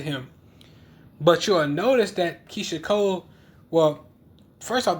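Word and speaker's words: Keyshia Cole: But you'll notice that Keisha Cole, well, first off, the nigga said her name wrong. He kept calling her Keisha Coles.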